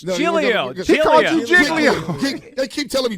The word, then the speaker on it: Giglio: like our chance about winning the game Joe jig Leo Hugh Douglas let that go it's jilo jigo they keep telling me jiggo giggo what do I'm hearing I'm hearing yesterday